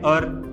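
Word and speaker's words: hour: और इसमें पहला एच है, फिर भी आएगा एन अर। तो इंग्लिश में कई सारे शब्द ऐसे होते हैं जिसमें पहला अक्षर साइलेंट होता है और दूसरा अक्षर बोला जाता है, इसलिए इट इज एन अर, half an अर, ऐसा।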